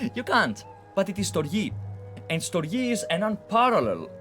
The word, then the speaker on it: Storge: How would you pronounce that? Storge? Surge? You can't, but it is Storge.